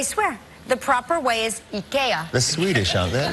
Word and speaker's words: IKEA: Oh, and I guess that's the way the Swedish market people would say it. IKEA. IKEA. So from now on, when you go to IKEA, just you know should